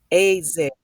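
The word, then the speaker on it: עזר: Far as the Hebraic word is pronounced as azer, azer, okay?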